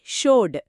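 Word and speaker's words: showed: షో అనే పదంలో ఓడబ్ల్యూ అనే అచ్చు శబ్దముంది, కాబట్టి షోడ్.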